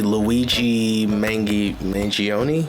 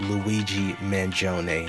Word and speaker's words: Luigi Mangione: at you guys with an update on the Luigi mangi mangion I completely butchered his name but it is pronounced Luigi manone hopefully I can spare you all now from